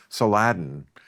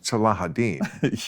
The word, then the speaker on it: Salahuddin: I used to call them Saladin, and then I realized, then I heard it, Salahuddin Yeah.